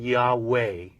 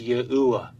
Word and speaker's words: YAHUAH: The Tetragrammaton has never been pronounced with a long A at the end, as we find in Yahweh, not in 3,000 or 3,500 years of evidence.